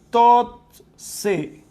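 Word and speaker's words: תוצא: género, ese produzca es la palabra totse. La pronunciación sería así. Totse.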